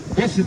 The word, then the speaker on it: मोहसिन: पे तैयार करवाए हैं मैंने गलत प्रोनाउंस किया है मोहसिन नाम है मोहसिन दराज कद के